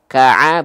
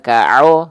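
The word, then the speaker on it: ك: Ka'a bukan ka'o gitu. Maka dia adalah huruf yang tipis ya.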